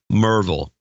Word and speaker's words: Maryville: Michael Delosier from Maryville. Merville. Let me get that right, too. Michael Delosier from Merville, Tennessee. Hey, Merville, where you going to, Bill? Merville. I'm heading to Merville.